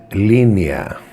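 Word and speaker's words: Lenaia: So the Athenians celebrated a festival called LENNEA, LENNEA, yeah, that's how you pronounce it.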